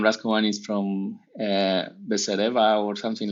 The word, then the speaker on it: Raschkovan: Anyhow, your last name to me is impronounceable. Tell me about what it is. My last name is Raschkovan. Raschkovan is from Besereva or something like that.